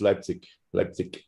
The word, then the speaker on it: Leipzig: i pronounced leipzig properly lapses uh well people that live here say like right but it's officially it's leipzig but you can say